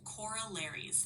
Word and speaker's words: corollaries: The word is corollaries, pronounced corollaries.